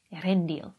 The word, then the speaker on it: Earendel: irene floral baggins i give you the light erendil that's how you pronounce it i'm gonna be with you everywhere